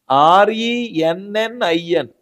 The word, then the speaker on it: rennin: This pronunciation is a renin only. This is a milk coagulating enzyme. Milk coagulating enzyme present in the stomach of infants. Stomach of infants. Renin, RENNIN. Spelling both pronunciation same.